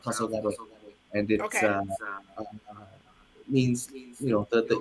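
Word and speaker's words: 黄昏: Yeah, so it's a Japanese term. It's pronounced Tasogare, and Okay.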